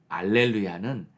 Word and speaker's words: 알렐루야: 맞는지 무엇이 옳은가가 아니고 할렐루야는 히브리식 발음이고요 그리고 알렐루야는 헬라식 발음입니다 헬라어에는이 강한 히읗 발음이